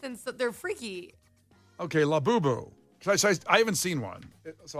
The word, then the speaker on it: Labubu: I'm not The in Labubu market.